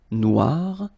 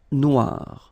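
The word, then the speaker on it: noire: it's quite funny because you will have to add this at the end of Noir for the feminine form but then you don't pronounce it okay so phonetically it is exactly the same Noir Noir Okay g don't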